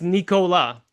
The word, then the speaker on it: Nicolas: It's a French name. It's Nicola. three syllables and it sounds just like recla the cough drop.